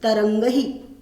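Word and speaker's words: तरंगैः: केचन तरंगहि, इसका उच्चारण करना है तरंगहि।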